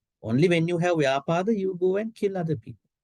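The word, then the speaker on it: vyāpāda: Yeah, actually this word is spelled in both ways, vyapada and vyapada. Yeah, so vyapada is okay. You can say, you can what you call remove B and you can say V, vyapada.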